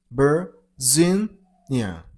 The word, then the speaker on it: Virginia: P turns into B sound, and you should stress on the middle syllable, on Z. Virginia.